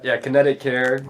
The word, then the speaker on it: KINETIQ Care: It's, Kinetic Care is the Chiro page. It's spelled KINETIQ Care.